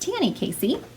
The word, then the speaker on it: Tanny Casey: I have been mispronouncing her name, so my apologies for that, but her name is pronounced Tanny Casey.